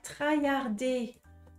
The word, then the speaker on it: traillarder: je vois pas ah il faut penser à la prononciation française le r en français vous savez il est vraiment différent du R en anglais en français on fait re c'est ça ça gratte là c'est c'est comme si